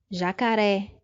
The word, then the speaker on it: jacaré: Segunda palavra, jacaré. A mesma coisa, a sílaba forte é a última, é oxítona e termina em vogal, no caso a letra E.